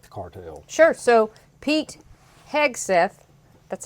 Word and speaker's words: Hegseth: So, Pete Hegseth, that's how you say it, I believe correctly.